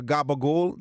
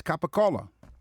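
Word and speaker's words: capicola: would say riotta or gabagul. There's a c in there. It's capacola by the way.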